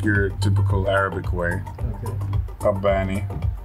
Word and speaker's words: Kabbani: Kabbani. Kabbani. Yeah, you pull on the B.